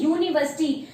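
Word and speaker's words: university: चीज से शुरू करेंगे, यू जो है वैसे तो वॉवल है, लेकिन इसको प्रोनाउंस हम क्या करते हैं, यूनिवर्सिटी। तो या आ रहा है इसके स्टार्टिंग में भी, तो इससे पहले भी हमारा क्या आएगा, ए आएगा।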